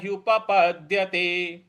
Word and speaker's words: उपपद्यते: न यु पद्य ते देखिए प दोनों एक साथ लिखा है और पूरा लिखा हुआ है तो प पूरा बोलना है पप नहीं बोलना है पप नहीं बोलना है